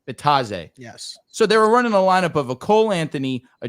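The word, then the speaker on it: Bitadze: Bitzade. How do I pronounce the center on the name? Bataze.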